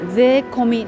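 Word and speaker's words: 税込み: 税込み、これはね税込みと読みます。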